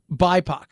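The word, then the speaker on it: BIPOC: don't think i did it is bipac it was not be confused with tupac it was a security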